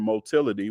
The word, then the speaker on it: motility: move in different ways the term motility which rhymes with Mobility which makes sense refers